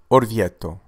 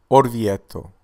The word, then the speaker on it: Orvieto: it is known for its stunning Gothic Cathedral pronunciation of this city is orto orto orto thank you for watching please give a like